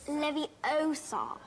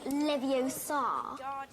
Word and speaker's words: Leviosa: someone's eye out besides you're saying it wrong Leviosa not Leviosa Wingardium Leviosa she got